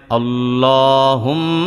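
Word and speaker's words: اللهم: আল্লাহুম্মা বারিক আলা মুহাম্মাদ আল্লাহুম্মা এখানে আল্লাহ শব্দের লামটা মোটা হবে উম্মার মধ্যে ওয়াজিব গুন্না বায়ের মধ্যে একা আলি পরিমাণ টান রিকার মধ্যে কোন টানেই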